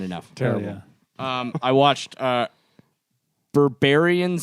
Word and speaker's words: Berberian: I watched Berberian Sound Studio, Yeah. which has Austin written all over it. What? Barbarian? No, Berberian.